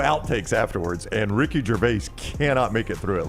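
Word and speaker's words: Gervais: Ricky Jerves. Ricky Jervase.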